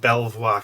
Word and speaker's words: Belvoir: at a place called belvoir castle beaver castle depending on how you want to pronounce it right so put some